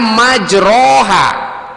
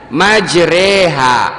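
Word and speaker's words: مَجْرَاهَا: Bismillahi majreha, tulisannya majroha tapi dibacanya majreha, itu namanya imalah.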